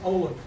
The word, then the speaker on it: Olin: Is it pronounced Olin? Yes, Olin.